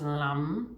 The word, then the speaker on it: lam: The sound is lam, which is spelled like L-A-M, lam.